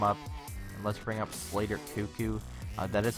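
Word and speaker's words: Slater Koekkoek: let's bring him up and let's bring up Slater cucko that is how you pronounce it actually actually I've I've asked him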